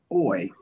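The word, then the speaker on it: אוֹי: on last night is, what are your reflections about woe, or as it's pronounced in Hebrew, oi?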